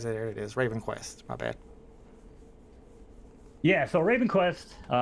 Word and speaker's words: Ravenquest: Is that how you pronounce it, Mo? Ravenquest. There it is. Ravenquest.